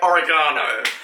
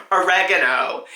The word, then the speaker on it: oregano: I could cope with another 500 interpretations of the word oregano or oregano.